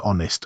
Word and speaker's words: honest: Same with honest, an honest answer.